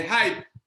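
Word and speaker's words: HYIP: Il y avait ceux qu'on appelle les hype. Hype s'écrit H-Y-I-P. H-Y-I-P. C'est une abréviation.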